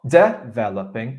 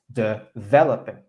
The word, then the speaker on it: developing: the that is stress so it's not developing it's developing developing can you say developing that's better so keep a word keep a mental note of that word word stress is on syllable number two developing developing very minor